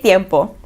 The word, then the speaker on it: tiempo: Tiempo, like when you say tiempo, it's spelled with a T but you don't pronounce the T.